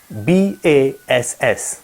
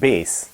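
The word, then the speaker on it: bass: you pronounce this word b-a-s-s it's not pronounced as bas rather it's pronounced as base second example would be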